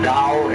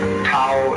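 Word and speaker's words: 道: nature is holder Dao Dao pronounced Dao in the Mandarin dialects Tao in the changhai dialect toe and the company's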